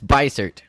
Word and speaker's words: Beissert: It's Beissert. It's French German though. So yeah. Okay. I was like, there's a European thing going on. Well, Caleb Beissert, I'm very excited to have you here.